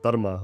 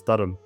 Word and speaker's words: Dharma: entire imperial project around Dharma or what we Sikhs often pronounce as Dharam.